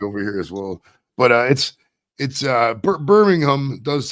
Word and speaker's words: Birmingham: Got a long weekend in Birmingham or Birmingham, as you blokes call it. We have a Birmingham in the States, Alabama. As it's spelled. Birmingham. Yeah, Birmingham. Birmingham. It doesn't say EM at the end, it's HAM at the end.